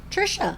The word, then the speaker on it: Trecia: way nobody has ever how do you pronounce it Trisha it is Trisha Trisha yeah so that's that's